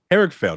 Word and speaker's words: Harrigfeld: I'm like, I'm gonna say his last name wrong. Say your last name for me. Harrigfeld.